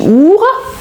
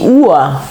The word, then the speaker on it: Uhr: On ne dit pas die Uhr, oui, mais die Uhr.